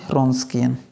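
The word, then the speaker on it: Wronskian: तो पी आई उससे पहले निकाल दें, हम लोग निकालते हैं रॉन्स्कियन। W यहाँ पे क्या है, साइलेंट है।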